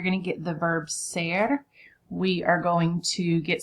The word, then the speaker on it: ser: This is our other verb that means to be in Spanish, and it's pronounced ser.